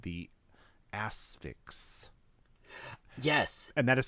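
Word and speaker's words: The Asphyx: it it's a drama horror film called the asix yes and that is spell that is spelled for those of you wondering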